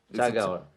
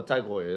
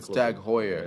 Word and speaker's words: TAG Heuer: Tag Hour. Tag Hour. No, Tag Heuer. It's actually Tag Heuer. Yeah. It's like, because I imagine it's pronounced the same as that goalkeeper Neuer.